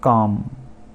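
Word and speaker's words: calm: उसके बाद काम मतलब शांति, काम, एल साइलेंट।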